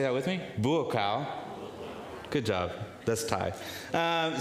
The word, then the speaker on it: Buakaw: book then there's uh this is hard to pronounce sometimes his name but his name is bua uh do you want to say that with me bua good job that's Tai um so he's a